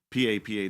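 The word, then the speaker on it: papaw: Some people spell it p like us, p a p aw, and some people pronounce p a p a w as papa, but we call it papa.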